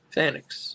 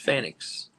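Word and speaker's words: Fénix: It's Ray Phoenix. Phoenix. Phoenix. That's how it's pronounced. Phoenix.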